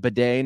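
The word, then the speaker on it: Badie: word on Tyler uh baday now apparently which is we all yeah we all found that out the last in his Breakout game against the Buccaneers we found out that he pronounces it Beday now but uh he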